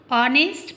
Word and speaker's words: honest: यहाँ पे पहला जो अक्षर है उसका उच्चारण साइलेंट होता है, इसलिए हम ऑनेस्ट पढ़ते हैं और ओ की ध्वनि आ रही है, इसलिए इसके सामने एन लगाया जाएगा।